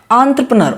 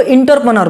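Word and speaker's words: entrepreneur: यहाँ पर शायद मैं गलत बोल रहा हूँ, लेकिन इसका सही प्रोनाउंसिएशन क्या होगा, एंटरप्रेन्योर।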